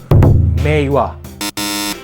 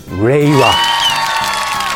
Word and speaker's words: Reiwa: imperial era that's called Meiwa. I'm sorry, I said it wrong. I haven't got used to it. I haven't got used to the new name. That's called Reiwa.